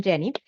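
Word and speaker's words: Yenny: Something fun about my name is that even though it's spelled with a Y, it sounds like a J because I'm from Mexico, and in Spanish, the Y sounds like a J. So I'm Jenny, and I'm a leadership coach and trainer.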